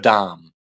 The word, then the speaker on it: Dham: That's spelled D-H-A-M-A. You don't pronounce the last A. So you've got Dham.